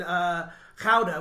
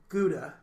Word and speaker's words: Gouda: hives or I was in cow de which most people pronounce Gouda yeah it's how did